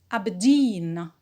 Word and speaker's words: Aberdeen: p preposition not stressed abedin abedin is a british city as well so it is stressed on jean the primary stress on dean and we have a secondary stress on the first syllable r is not stressed